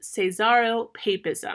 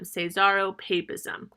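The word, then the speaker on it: caesaropapism: first key difference is this concept known as cesaro papism i'm going to spell that for you because it's a good term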